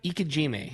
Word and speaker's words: Ikejime: And how do you pronounce it? Ikejime.